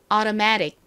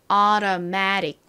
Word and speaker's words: automatic: automatic. 좀 천천히 해볼까요? automatic.